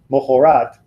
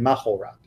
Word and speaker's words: mohorat: but it has become more common to say mohorat rather than mahorat. Mohorat. Mohorat, not mohorat, but mohorat.